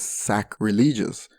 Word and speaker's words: sacrilege: worships hence committing sacrilege Eminem also pronounces this as sack religious to make it sound more literal the line about is